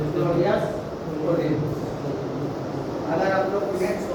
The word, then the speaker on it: Ptolemy: टोलेमी नहीं पढ़ना, उसका स्पेलिंग है टोलेमी, PTOLEMY, टोलेमी।